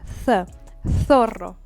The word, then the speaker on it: zorro: The letter Z followed by whatever vowel, it is pronounced the same way. Zorro, wolf. Zorro. It's again with the tongue in the middle of your teeth.